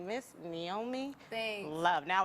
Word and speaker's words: Niomie: It's the I is pronounced with the ni.